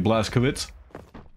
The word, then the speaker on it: Blazkowicz: It is gonna be Carson playing BJ Blazkowicz, more accurately. That's how you pronounce the CZ.